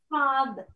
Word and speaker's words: father: அடுத்து father. இந்த ஆர் நாங்க உச்சரிக்க மாட்டோம். father. ரைட்.